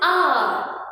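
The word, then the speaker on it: hour: See the pronunciation? An R. H is silent here. The sound is R.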